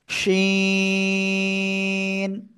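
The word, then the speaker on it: ش: নাম কি সাব্দ করে তিন আলিফটা নিয়ে আমরা এই অক্ষরটা উচ্চারণ করব শি শিন ঠিক আছে সবাই একসাথে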